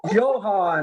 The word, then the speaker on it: Johann: my my southern accent johann like johann sebastian bach johan strauss it's a german name but you know i